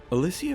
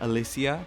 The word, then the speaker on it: Alicia: For instance, did you know her name was pronounced Alicia, not Alicia? You've been saying it wrong all these years.